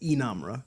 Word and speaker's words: Inamra: Inamra, am I right? Yeah, in saying so it's Inamra. Inamra, Yeah. Okay. So I have the pronunciation in my bio on Instagram, I believe.